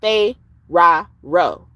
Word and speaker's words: Pharaoh: And Pharaoh is really supposed to be pronounced Fero. If it's spelled Pharaoh and it pronounced like that, it's because it's a